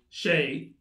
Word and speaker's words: Shade: didn't butcher your name shea shade it's a regular shade don't try to put anything on it okay regular shade all